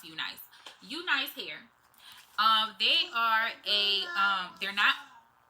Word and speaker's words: Unice: The company that I am reviewing today is Unice or Unice. I think it's pronounced Unice.